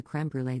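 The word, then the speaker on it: crème brûlée: a comment about the creme brulee they had, and I pronounce it in French because it's a French word, and I'm French.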